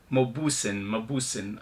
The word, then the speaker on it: Mauboussin: Anyway, so it's Mauboussin, okay?